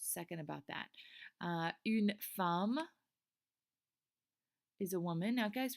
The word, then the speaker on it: femme: Now, guys, remember not to say femme. Femme is not the correct pronunciation. We want to say femme. Femme. We're going to pretend like there's an A there where that E is.